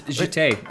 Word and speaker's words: Jitte: Yeah, so it's Jitte.